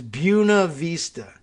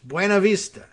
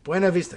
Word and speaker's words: Buena Vista: the real pronunciation is buna vista it's not buna puna isn't a word in anything this is clearly spanish buena vista it's not that hard